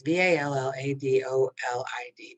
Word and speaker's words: Valladolid: when i put out this round but it's v-a-l-l-a-d-o-l-i-d valladolid i think it's pronounced is it in spain brazil europe portugal